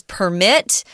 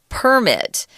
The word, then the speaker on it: permit: The verb is permit. The noun form of this word is permit. Notice the zhongyin is on the first syllable with the noun, permit.